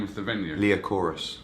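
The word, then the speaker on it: Liacouras: Can you pronounce me the name of the venue? Leochorus. Leochorus.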